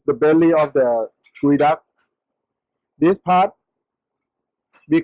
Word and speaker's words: geoduck: in the first time, so I pronounced in the wrong one because it said Geoduck. I call is Geoduck, but after I learned from my master, so he taught me that the right pronunciation is called Geoduck.